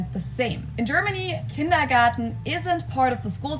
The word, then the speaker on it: Kindergarten: ones and that is kindergarten in German we pronounce it kindergarten and it literally means Children's Garden and even